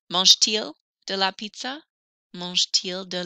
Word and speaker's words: mange-t-il: Mange-t-il de la pizza? Oh, notice when I'm pronouncing this, I do hear the letter T more. Normally, you never hear the A-N-T on the end.